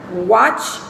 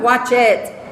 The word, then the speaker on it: watched: Ejemplo, watch, aquí lo tienes en el presente, se escribe en el pasado y se pronuncia watched, no es watched.